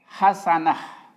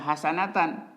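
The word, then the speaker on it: حسنة: Kalau ini hasanah, bukan hasanatan. Jadi hasanah.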